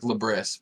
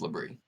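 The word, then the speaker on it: Labris: degree it's a LaBrie it's l-a-b-r-i-s so it's spelled like lebris but it's liberty three oh um hiring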